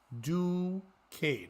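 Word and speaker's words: Duquesne: Catholic University located in Pittsburgh the school is pronounced do Kan and they write out d o o dash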